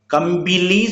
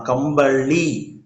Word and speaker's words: கம்பளி: கம்பிலி சொல்லக்கூடாதாம். கம்பளி.